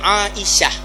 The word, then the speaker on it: Aisyah: Aisyah, bukan Ainah; Ini adalah Aisyah. Kami orang Aceh sering salah dalam pengucapan. Jika Anda memeriksa kartu identitas, orang Aceh sering menulis nama, dan ketika memeriksa ejaannya A-I-S-Y-A-H, mereka membacanya sebagai " Ainsah"—itu salah. Yang benar adalah Aisyah, Aisyah, Aisyah.